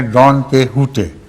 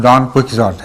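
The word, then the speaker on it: Don Quixote: اور اسپینش میں ہے ڈان کیحوٹے۔ وہاں ایکس جو ہے اس کو ایکس نہیں پڑھتے اسپینش میں، اس کو ہے پڑھتے ہیں، یا خے سے ملتی جلتی، تو اس کا تلفظ ہے ڈان کیحوٹے، اور ہماری اردو میں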